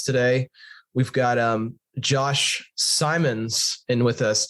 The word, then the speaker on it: Simons: we've got um Josh Simons and with us Simon's or Simmons I'll make sure I'm pronouncing your name right oh it's Simon's but assignments Seth that's